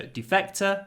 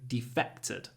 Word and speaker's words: defect: so Defector somebody who defected another meaning of defect but the stress is different defect the noun defect stress on the first syllable to defect the stress is on the second syllable 155 I don't know